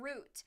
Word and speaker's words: route: I've always called them routes, but some people call them root, like root 106 or route 106. And I think it can be pronounced either way.